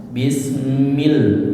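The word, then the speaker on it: بِسْمِ: Bismil, mil tipis ya, milnya bukan la.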